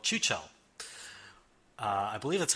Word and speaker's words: Chuchel: As for what I have been playing, I have been playing this delightful little point-and-click-ish game called Chuchel. I believe that's how you pronounce it.